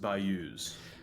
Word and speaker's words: bayous: It's pronounced bayous.